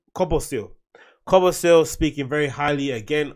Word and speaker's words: Kobosil: Kobosil, how do you pronounce his name? Kobosil.